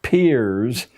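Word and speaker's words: Peirce: He was It's pronounced peers, but it's spelled as if it were Pierce. Charles S. peers, a strange figure, a part-time lecturer at Harvard,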